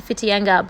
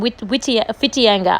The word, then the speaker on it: Whitianga: It is one of those New Zealand towns that has a W, but you don't pronounce the W. You say like F instead of W.